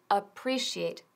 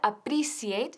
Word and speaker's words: appreciate: Ahora aquí tenemos el verbo to appreciate, que no se pronuncia appreciate, sino appreciate. Shh, shh, shh, appreciate.